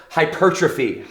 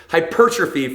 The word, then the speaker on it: hypertrophy: fitness nerds out there, hypertrophy. I used to say it like that. We can't never say that word the right way when we first get started in the industry, but it's hypertrophy for all of my professionals out there as well.